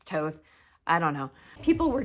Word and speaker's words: Thoth: It looks like Thoth, but it's pronounced Toth.